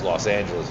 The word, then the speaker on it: Los Angeles: go to uh Lo well it's Los Angeles if I just you know say it right but Los Anis uh Top by Plano